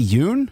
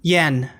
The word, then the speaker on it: Yen: Donnie Yun. Yen. Donn. Is he from the raid? I haven't. Yen. Okay. I've only seen it spelled, so I don't know how to pronounce the Lat.